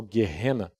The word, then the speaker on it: Geena: eram jogados num vale chamado geena ou numa pronúncia mais próximo do original guena que era onde se